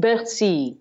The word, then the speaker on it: Bercy: Bercy, right. That is such a great park as well. Yeah. What a beautiful park. So is it Bercy or La Villette? I thought it was Bercy.